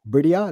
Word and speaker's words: Bridia: So it's B U R D I Y A, Bridia, it's pronounced. Bridia.